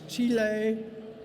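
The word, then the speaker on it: chile: passed a resolution that says that the correct pronunciation is T Leigh and that it is spelled CH I le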